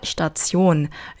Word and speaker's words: Station: 그래서 지하철, Station, 정류장, 요거 조합, 발음 조합 아시죠? Tion 아니고 Zion 이렇게 되고요. 얘는 항상 강세가 일로 가요. 그래서 Station 아니고 Station 이렇게. Station 뒤를 올려주시고요.